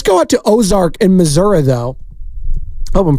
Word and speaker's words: Missouri: out to Ozark in Missouri though hope I'm pronouncing it correctly it's not misery right it's Missour Ozark what's going on